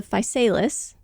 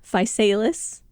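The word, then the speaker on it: Physalis: privacy secrecy and modesty the gp2 is the falis looked up the pronunciation of that several times yes that is how they say to say it falis A genus of around 70 to 100 species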